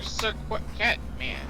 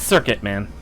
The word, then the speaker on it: Circuit Man: pronounced circuit man or Circle K man it's circuit man as in circuitry wow I have never